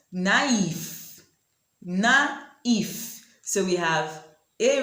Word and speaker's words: naïve: Now you know why these words are pronounced in separate syllables.